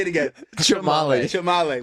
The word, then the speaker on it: Chamale: Chamale. Chamale? If you were in Guatemala, probably the way you just said Chamale? it. Yeah, but in America, just Chamale.